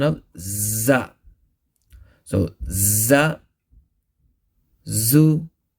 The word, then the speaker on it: ز: called sanaya sufla now the makhrach of za is such that za's pronounced with the tip of the tongue see this tip of the tongue touching the edges of sanaya souffle see these two teeth